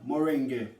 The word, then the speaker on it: moringa: Moringa or moringa. Moringa is the right word, terminology, pronunciation.